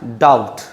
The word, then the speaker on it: doubt: If B is followed by T, B has no sound.